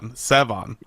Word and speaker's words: Sevan: Yeah, I end up talking about how to pronounce my name on a lot of things, so if anybody doesn't know by now, it's the accent. It's Sevan.